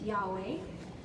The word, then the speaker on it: Yahweh: But scholars and rabbis have noted that the letters YHWH represent breathing sounds or aspirated consonants. When pronounced without intervening vowels, it actually sounds like breathing.